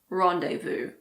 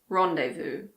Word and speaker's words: rendezvous: Again, there aren't that many words in English with a silent Z. The most common ones are probably laissez-faire and rendezvous. Laissez-faire, rendezvous.